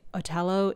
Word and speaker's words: Otello: By the way, Otello is just the Italian pronunciation of Othello.